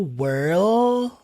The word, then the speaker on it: world: fala comigo aí ó depois você vai colocar o som do L lá dentro world world world eu vou